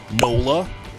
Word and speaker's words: NOLA: It rhymes with cola for New Orleans. NOLA, which is N-O-L-A.